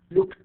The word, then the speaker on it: looked: have for example um look so look i pronounced easy as t looked not looking looked looked okay so i have